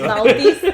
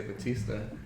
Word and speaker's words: Bautista: Bautista. Bautista. Bautista. That's how you're supposed to say it. When people say Batista.